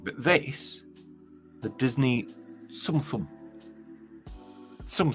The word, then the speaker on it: Tsum Tsum: But this, the Disney Tsum Tsum. Tsum Tsum. I'm 110% sure that's how you pronounce it. Prove me wrong.